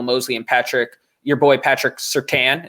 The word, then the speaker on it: Surtain: Horn, or Emmanuel Mosley and your boy Patrick Surtain, is that how you say it? Yeah, Surtain. I said it right this time.